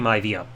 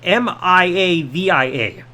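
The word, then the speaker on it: Maivia: his last name being m-i-a-v-i-a it's supposed to be m-a-i-v-i-a so it's supposed to be my via not Mia via so I saw that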